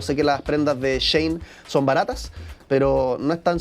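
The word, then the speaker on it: Shein: que las prendas de Shane son baratas, pero no están sostenibles a largo plazo. Último dato antes de que nos vayamos a la pausa. ¿Sabías que Shane no se dice Shane, sino que se dice Shan?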